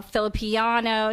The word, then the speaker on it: Villapiano: good good friend uh phil villapiano now filipiano depending on how you want to how you want to pronounce that he played football